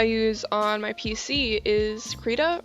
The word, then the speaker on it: Krita: on my pc is krita or krita however it's pronounced uh i've always said create a creda yeah um it's completely